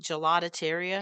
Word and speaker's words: gelateria: because when I was looking at this gelateria, is that how you say it? Gelatateria?